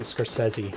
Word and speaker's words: Scorsese: Martin Scorsese. Oh. Which is how you pronounce his name.